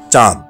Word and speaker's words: চাঁদ: সঠিক উচ্চারণ চাঁদ। চন্দ্রবিন্দুর ব্যবহার রয়েছে। আমরা অনেকেই ভুল উচ্চারণ করে বলি চাঁদ, চন্দ্রবিন্দুর ব্যবহারটুকু করি না। এখন থেকে সঠিক উচ্চারণ করে বলবো চাঁদ।